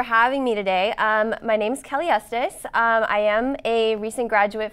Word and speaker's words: Kelly Estes: and wrote a book about a year ago, Kelly Estes. Am I pronouncing that right?